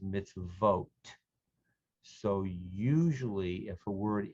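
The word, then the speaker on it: מִצְווֹת: more ham many hebrew nouns become pluralized with an eem sound at the end the other plural ending is oat so for example the word torah when pluralizes to wrote the word mitzvah when pluralizes misvote so usually if a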